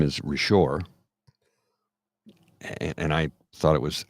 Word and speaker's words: Richard: My Name I go I thought your name was rishor he goes it is RoR I go that's Richard but because it's French they pronounce it rishar